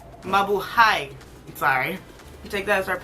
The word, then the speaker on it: Mabuhay: We're gonna take the other matte shade, which is called Malube.